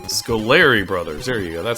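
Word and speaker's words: Scoleri: And our first boss that we have to defeat are the Scarelli brothers, I think is their name? Scolari brothers, there you go, that's how you pronounce it.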